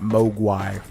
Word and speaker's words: Mogwai: I think I was pronouncing it Mogwai.